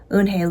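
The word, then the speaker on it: Unhei: his eyes open wide unhe looked quickly at Mr Kim then turned to Joey she nodded slowly yes it's pronounced un and it means Grace Mr Kim added un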